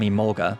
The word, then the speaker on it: Emolga: She starts with a pursuit from Emolga, there I said it right.